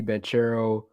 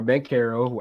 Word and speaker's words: Banchero: I like Ivy, Banchero, or Bancaro, however you want to pronounce it, and Smith.